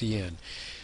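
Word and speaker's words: cin: That's CI N. It's pronounced CN.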